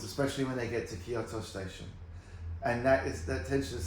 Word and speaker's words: Kyoto: Kyoto? yeah, Kyoto.